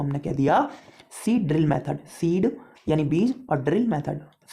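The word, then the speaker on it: seed drill: लोग देसी हैं तो गांव में इसको सिड्डिल सिड्डिल चिल्लाते रहते हैं। ये वही सीड ड्रिल मेथड है, actual pronunciation is अ सीड ड्रिल।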